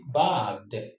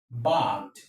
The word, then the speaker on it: bagged: So option A is wrong because the right pronunciation of this word is bagged, bagged, bagged.